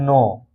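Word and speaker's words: knee: सीधा पढ़ा गया है नो। इसी तरह नोक, इसी तरह नी, नाइफ, नॉलेज, नीड, तो इन सभी वर्ड में आप देख सकते हैं यन से पहले के आया है इसलिए के साइलेंट है।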